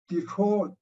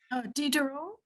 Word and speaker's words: Diderot: Then in Baumgarten, in Detroit, Diderot, how do you say that? Michael help me out. Diderot is a Detroit, the French philosopher. Diderot?